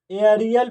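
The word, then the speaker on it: aerial: लगातार प्रयास करते रहेंगे जैसे ए ई आर आई ए एल ठीक तो इसे एरियल प्रोनाउंस किया जाएगा क्या किया जाएगा एरियल क्यों प्रोनाउंस किया जाएगा देखो यह कहता है रूल कि जब किसी वर्ड में एई के बाद क्या आ गया यहां पर आर आ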